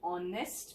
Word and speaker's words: honest: the sound is vowel sound of o and honest man again edge is silent so the word has got a vowel